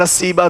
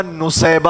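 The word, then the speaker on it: نسیبہ: بعض لوگوں نے کہا کہ اس کا نام نصیبہ تھا، لیکن صحیح تلفظ اس کا نصیبہ ہے، نصیبہ بن کعب.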